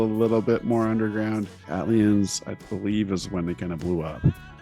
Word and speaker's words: ATLiens: duos in rap history, OutKast, and their song ATLiens. ATLiens. I always called it ATLiens growing up. but I've heard different pronunciations.